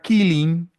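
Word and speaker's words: Keeling: Y el apellido de este científico se escribe distinto, pero se pronuncia igual. Se dice The Killing Curve y sonaría como la curva de la muerte.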